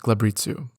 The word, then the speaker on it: glabrezu: by Mains rudkin vers and glabrezu which I just learned is pronounced gabitzu the Fountain of Screams